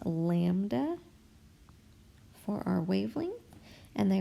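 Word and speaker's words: λ: So our givens are F for frequency, and this once again is pronounced lambda for our wavelength, and they are asking us for the speed, so V equals question mark.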